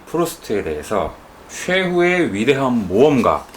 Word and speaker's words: 프루스트: 자, 프루스트 천천히 하면 됩니다. 예. 프루스트. 프루스트. 예. 자, 프로스트가 아닙니다. 네. 그렇죠. 예. 프루스트. 예. 예. 그 버지니아 울프라는 사람은 이 프루스트에 대해서 최후의 위대한 모험가라고 예.